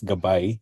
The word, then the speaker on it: Gab AI: Gabay, like what my colleagues have mentioned, and you might have heard already, Gab AI, it's pronounced as Gabay, which is also the Filipino word for guide.